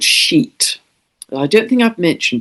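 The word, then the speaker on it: Sheat: It is also conjunct, when it moves back to 29 degrees of Pisces, a fixed star called Sheet. I don't think I've mentioned before. This is spelt S-H-E-A-T at 29 degrees of Pisces.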